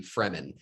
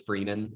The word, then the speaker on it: Fremen: were pronounced here like i thought it was freeman and i was like okay you know like they're the free men like that's what i